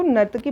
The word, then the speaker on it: नर्तकी: कि कांसे से बनी नर्तकी, यहाँ पे गलत स्पेलिंग लिखी हुई है। ठीक है, इसको नर्तकी पढ़िएगा, यानी कि ब्रॉन्ज डांसर जो थी एक आइडॉल पाई गई है यहाँ पे।